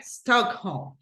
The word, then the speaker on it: Stockholm: from Stockholm was here Stockholm Stockholm so basically the stress syllables goes in the first syllable a stockh home okay